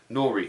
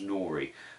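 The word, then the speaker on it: Newry: Wednesday we went to nori Cathedral knows printer it's spelt new re NE w ry but it says pronounced nori so we went to nori Cathedral and that's in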